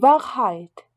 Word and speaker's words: Wahrheit: Le W allemand, par contre, se prononce comme le V français. Devant, vilain. Die Wahrheit, la vérité.